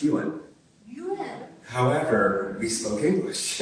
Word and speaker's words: Yuen: In my family, it was always pronounced Yuen.